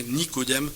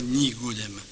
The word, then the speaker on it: Nicodème: quelqu'un l'a fait remarquer Nicodème s'écrit Nico Nico et pas Nigo c'est bien Nicodème et pas ni godem donc faut faire attention